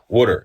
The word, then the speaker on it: water: know what I mean like I say water but most people say water water you know I say I say w o o d e r r water you know what I